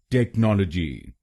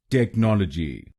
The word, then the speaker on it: technology: इसकी सही प्रोनाउंसिएशन है टेक्नोलॉजी। टेक्नोलॉजी। इस शब्द में 4 शब्दांश हैं। पहला शब्दांश है TECH, दूसरा शब्दांश है NOL, तीसरा शब्दांश है O और आखिरी शब्दांश है GY।